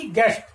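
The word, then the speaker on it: guest: इसी प्रकार यहां देखिए जी यू एस टी, गेस्ट, गेस्ट, यहां पर भी यू क्या है, साइलेंट लेटर है, इसका हम यहाँ पर प्रोनाउंसेशन नहीं कर रहे हैं।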